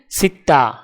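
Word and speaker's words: ستة: আরবি ক্রমিক সংখ্যা 6 দেখতে এরকম, উচ্চারণ হবে সিত্তা।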